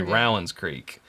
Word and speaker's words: Rowan's Creek: says Rowan's Creek, but Rowan County here in Kentucky is Rowan. So it's actually Rowan's Creek is how I would think you would pronounce it.